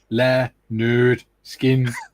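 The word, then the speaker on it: Lynyrd Skynyrd: Uh Tim says pronounced le nerd skin.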